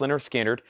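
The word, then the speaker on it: Lynyrd Skynyrd: Leonard skinnard is $34.99 pronounced Leonard skinnard it's on the first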